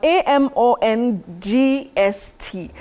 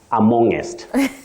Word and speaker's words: amongst: all right Willis moving to this other one a m o n GST um amongst amongst how do we go about that one Willis oh Betty the most hilarious pronunciation that's why sometimes here locally is amongest amongest that just tickles me but you know